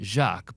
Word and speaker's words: Jacqui: Patisserie Jacques or patisserie Jacques, because my friend who lives there calls it Jacques, but it's spelled Jacqui.